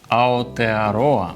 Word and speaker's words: Aotearoa: Soy sumiller profesional y hoy vamos a catar vinos de Aotearoa. Así se pronuncia Nueva Zelanda en la lengua local de la tribu maorí.